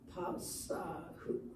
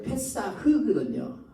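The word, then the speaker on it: פסח: 우리가 이걸 읽을 때 요 본래는 페사흐거든요. 페사흐인데 그래서 요 밑에가 이렇게 돼야 돼요. 본래는 히응 페삭 이렇게 써야 되는데 그냥 읽을 때 페삭 우리말로 이렇게 읽습니다. 유대인들도 페삭이라고 읽어요.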